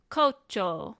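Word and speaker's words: 胡蝶: to kind of elongate the last o sound. They stick that u there for that reason here. So it is kocho, kocho.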